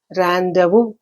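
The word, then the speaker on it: rendezvous: then randu you can see the uh very difference in the spelling and pronunciation because it's a loan word it's a pronounced as randu randu okay then jury this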